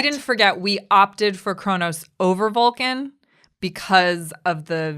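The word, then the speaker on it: Kronos: and atheria 5 is Chronos yes thank you that's how it's pronounced in English I'm saying for these Trekkies out there it's pronounced differently in Klingon 4 is hala 3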